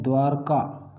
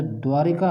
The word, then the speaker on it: द्वारका: ज्यादातर क्या होता है जो द्वारिका हम इसका उच्चारण करते हैं वह शुद्ध नहीं है के व्याकरणिक दृष्टि से यदि देखा जाए कि तुम मुझे सबवे जो शुद्ध शब्द है वह द्वारका है लेकिन हम कि उच्चारण औषधि के कारण द्वारका आपको द्वारिका पड़ते हैं यह गलत है शुद्ध शहद में भी